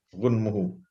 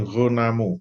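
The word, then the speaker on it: غُنْمُهُ: Ini bacanya ghunmu, ghunmuhu, bukan ghunamu. Kalau ghunamu, kalau nggak ada harokannya, keliru. Ghunamu itu kambing. Kemarin bahas kurban itu, kalau kambing itu ghunam. Kalau keuntungan itu ghunmu.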